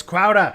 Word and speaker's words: Crowder: It's Crowder. Say it right.